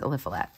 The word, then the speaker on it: Eliphelet: This one's Eliphelet.